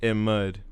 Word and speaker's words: Ahmad: How do you pronounce it? Is it Ahmed? Ahmed? Ahmad? Ahmad? Is it Ahmad? Ahmad? Ahmad? Or is it like Ahmad? I don't know. It's Ahmad.